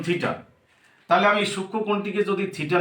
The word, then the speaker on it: থিটা: তার প্রথম যেটা হচ্ছে থিটা, চিহ্নটি এইরকম, মাঝখানে না, মাথার দিকে এরকম একটু পেঁচানো থাকবে, যাকে বলা হয় থিটা, উচ্চারণ থিটা।